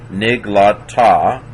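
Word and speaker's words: נִגְלָתָה: So nig, that's a silent schwa, closes the syllable. Niglata.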